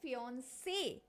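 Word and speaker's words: fiancé: लेकिन यहां पे हम बोल रहे हैं फियन से मतलब हम ई पे स्ट्रेस दे रहे हैं फियन से यहां पे यह बताता है कि इसके ऊपर आपको ज्यादा जोर देना है।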